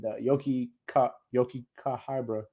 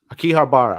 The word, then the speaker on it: Akihabara: So they went to like a fucking city, the Yoki Kahibra, whatever the fuck. How you say it? Hold on, let me look it up. Akihabara.